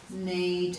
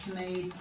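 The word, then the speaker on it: knead: They would have once pronounced that K, so it would have been canole, canave, canack, caneed and canapsack. It's a bit hard to say, so we've dropped the sound, but we still have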